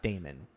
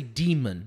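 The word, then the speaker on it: dæmon: Like, I feel like it should be pronounced Damon because it's got the like the A-E, which that's the symbol for A. Is that why I'm doing that? Damon. Because they don't say demon. They're saying demon.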